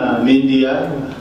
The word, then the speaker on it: Mindia: with any trading name media that rhymes with India so well that's why